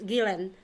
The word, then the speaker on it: Guillen: and it changed some they call it Vanessa Gill Bill, by the way. The Vanessa Gill Bill? Yeah, it's Gillen.